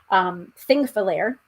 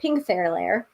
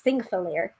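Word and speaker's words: Þingvellir: This is one of the places that I mispronounced. Thingvellir. I kept on pronouncing it Pingthairlair, which is not correct.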